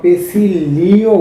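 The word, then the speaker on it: Pacioli: কখনো ডি পেসিওলি উচ্চারণ করা অথবা পেসিলিও উচ্চারণ করা হয়, তো এটাই সঠিক নাম।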